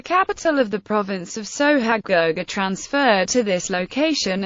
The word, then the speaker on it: Sohag: sohag suhaag Egyptian Arabic pronunciation so he sohag also known as saw harsh sooo hug and Sue Hodge is a city in